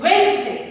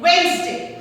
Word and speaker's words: Wednesday: अब पता है जब हम इसको phonetically बोलेंगे तो Wednesday आता है, but when we say it together, it is Wednesday.